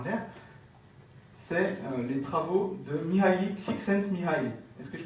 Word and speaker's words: Mihaly Csikszentmihalyi: Et ça, ce n'est pas qu'une parole en l'air, c'est les travaux de Mihaly Csikszentmihalyi. Est-ce que je prononce bien? Oui. Ok, nickel. Mihaly Csikszentmihalyi a tout simplement démontré que les gens qui